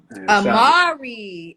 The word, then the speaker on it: Amari: Amari. Amari. That's how you say it. I did say it right the first time.